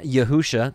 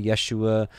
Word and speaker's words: Yahusha: is all about then yahusha this is how we understand our messiah's name some say Yeshua uh yahusha there's different